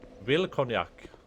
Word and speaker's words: Wilkoniak: It was like cognac, it's like the drink. Will cognac.